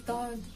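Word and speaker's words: ضاد: letter we learn is dodd this one is like a strong version of this dell kind of like the d in the word daughter it looks just like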